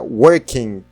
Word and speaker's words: working: Dica de pronúncia, a gente não chega a pronunciar esse G aqui no final. Fica working. A gente não chega a pronunciá-lo working. A gente não fala dessa maneira.